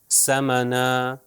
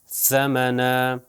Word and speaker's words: ثمنا: صحیح تلفظ کروں گا، پہلے غلط پھر صحیح. اب دیکھیے غلط تلفظ ثمنا اور صحیح تلفظ ثمنا ثمنا.